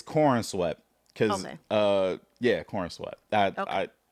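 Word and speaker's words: Corenswet: David, you gave I didn't know how to pronounce his last name, so Cornw is cornswe. It's it's cornswe.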